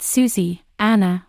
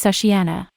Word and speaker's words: Sushiana: when people separate it it's not Susie Anna or even Susan it's sushiana I liked when Chris said